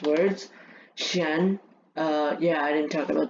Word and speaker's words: chien: Chien, yeah, I didn't talk about this one. So, chien. This one, normally CH in French now is pronounced with an sh.